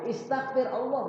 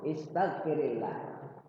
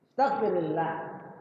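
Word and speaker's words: أستغفر الله: Ya, kalau dia bersambung dengan huruf saja maka jadi kasroh. Istaghfir Allah. Jadi dibacanya nggak enak kalau istaghfir Allah, nggak enak. Jadi dikasrohkan rohnya. Istaghfirillah. Istaghfirillah.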